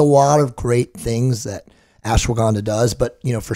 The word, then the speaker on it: ashwagandha: supplements you like for example don't you like ash Wonka how do you say that yeah ashwagandha it's a amazing cortisol suppressing supplement you can